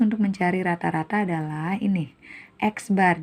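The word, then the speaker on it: x̄: mencari rata-rata adalah ini eksbar jadi X ada garis di atasnya disebut dibacanya eksbar atau rata-rata = Sigma X ini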